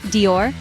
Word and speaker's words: Dior: of that French pronunciation it's just one syllable not two let's break it down start with a D sound as indor now make it soft almost like J in Journey then we move on to the ior this might be a